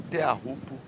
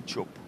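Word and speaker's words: Teahupo'o: de é aquela coisa você pode usar a a pronúncia usual do circuito que nem sempre é muito a correta como te rupo e tchopo aham os próprios tatian sempre chamaram de te rupo aí de tantos gringos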